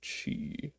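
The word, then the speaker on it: Qi: Sunzu Sunzu was a native of the cheese state. Let's make sure. I'm pretty sure that is pronounced chi.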